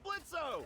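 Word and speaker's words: Blitzø: hey that sounds like blitzo the O is silent hey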